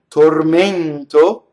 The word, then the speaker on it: tormento: So nel mio tormento. So notice there's a false rhyme, because contento has an open E on the stress, and tormento has a closed E